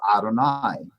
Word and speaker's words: Adonai: Bible it's never pronounced this holy name of God is always read as Adonai so whenever you see